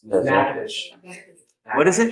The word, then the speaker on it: Natchitoches: I butchered the pronunciation, but Natchitoches. Natchitoches. What is it? Natchitoches.